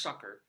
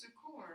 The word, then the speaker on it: succor: It's actually pronounced sucker, but I thought it was succor.